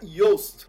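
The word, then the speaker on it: Joost: e o sobrenome dele eu sei que se pronuncia yost agora eu queria que ele confirmasse para mim falei certo meu nome é yost falou CTO issima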